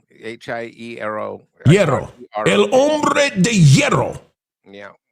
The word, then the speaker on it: hierro: Hierro. H-I-E-R-O. Hierro.